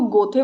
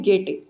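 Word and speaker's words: Goethe: कुछ लोग इसको गोथे पढ़ते हैं, जो कि गलत है, इसकी करेक्ट प्रोनाउंसिएशन है गेटे।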